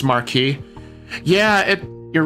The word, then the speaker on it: Marquis: They keep saying Marquis, which pronounced Marquee. Yeah, it you're right. with uh it should be pronounced marquee, but it's like they're